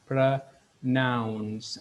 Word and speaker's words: pronounce: And அதில் verb வந்துட்டு pronounce. Pronounce. அதிலையும் இருக்கிற o வந்துட்டு schwaவாக மாறும். So we pronounce it as pronounce.